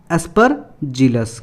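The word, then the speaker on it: Aspergillus: से पढ़ते हैं तो डायरेक्टली पीछे वाला का प्रोनाउंसिएशन हम गलती कर देते हैं। तो इसका नाम पूरा क्या हुआ? एस्परजिलस।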